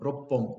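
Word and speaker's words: 六本: So that's why you go with sambon, then yonhon, gohon, roppon because it's roku.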